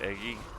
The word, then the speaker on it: EGI: all right everybody see egi is pronounced eggy it is not it